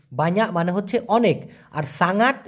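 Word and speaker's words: sangat: মানে হচ্ছে অনেক আর সাঙ্গাত এস এ এন জি এ উচ্চারণটা হবে সাঙ্গাত সাঙ্গাত এই সাঙ্গাত মানে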